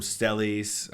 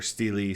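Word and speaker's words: stele: that have been found they called them stelis um or Steely sometime depends on how you pronounce it s-t-e-l-e and they're these decrees that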